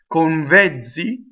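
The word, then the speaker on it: con vezzi: If I were to say these two words together, convezzi, convezzi. Watch my N. It goes on my bottom lip.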